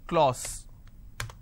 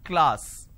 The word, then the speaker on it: class: right say for example the word class lot of people pronounce this as clause it's not Clause it's class so I have k Le ah so class this is how it's pronounced but people make a